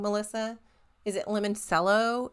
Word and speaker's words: limoncello: Is it limoncello? It's lemon and then CELLO, all one word.